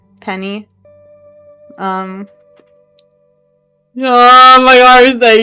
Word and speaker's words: Penni: So, but you know my name is Penny. I know it's spelled like Penny like that. Even though like you know it said like the word Penny.